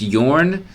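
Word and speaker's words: Jørn: So I think this is pronounced Yorn. It's Jorn, but the O has a little slash through it. So correct me if I'm wrong, but I think it's Yorn.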